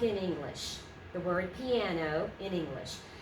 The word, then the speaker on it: piano: understand about diphthongs, and they will say it as a three-syllable word, just like in English. Piano. Okay, that gives them away that that it isn't their native language. So, piano, two syllables.